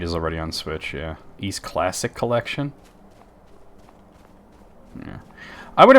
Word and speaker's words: Ys: But I think most people know now that it's pronounced East.